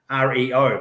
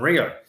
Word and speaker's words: reo: But she got this little calendar, and the word for language in Māori is reo, R-E-O, but it's pronounced reo rather than Rio.